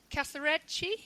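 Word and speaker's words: casarecce: I actually Googled how do you pronounce this, and it said all of the different syllables, but if there's 2 C's, say a ch.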